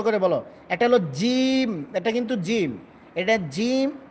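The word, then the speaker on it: ج: এটা হল জিম। এটা কিন্তু জিম। এটা জিম। জিমটা কিন্তু পাতলা হবে এবং শক্ত হবে। আর এটা হবে যা। শক্ত করে একটু মোটা সিস্টেম হবে।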